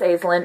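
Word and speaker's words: Aislinn: tale um aizlynn is for the longest time i called her ashlynn and then i realized that's not how her name is spelled um it's azlyn it's a i s l l-i-n-n there we go um so it's azlyn um she is a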